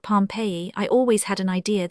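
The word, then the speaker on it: Pompeii: They pronounce it Pompei.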